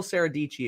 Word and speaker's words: Sarah Deichi: to sarah deichi go go follow saradici if you have not yet rhymes with peachy but it's not spelled like peachy uh all right so